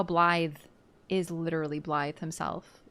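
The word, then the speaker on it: Blaidd: get the pronunciation because the double D is a th sound, like a th, right? So I couldn't quite parse it, but no, his name is Blythe. Just Welsh.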